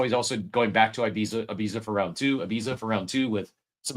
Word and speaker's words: Ibiza: No, he wants you to say it like the people say it overseas, Ibiza, like, which is I refuse. I refuse. This is America where we say Ibiza right here.